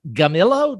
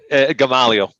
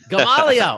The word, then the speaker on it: Gamalio: And I think that's short for Gamillo. Did I get that right? Gamalio. Gamalio. All right. I wasn't even close.